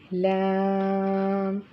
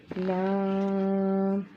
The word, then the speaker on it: لام: یہ حرف ادا ہوگا۔ pronounced from the edge of the tongue touching the gums of all top four front teeth۔ ٹھیک ہے، اس کے